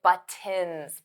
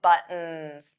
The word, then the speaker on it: buttons: buttons wasn't clear because native speakers, we don't pronounce those T's. I don't say buttons, buttons. That sounds very awkward for me to pronounce. I never, ever say it like that. I always say buttons, buttons, buttons, buttons. So those T's become flat T's.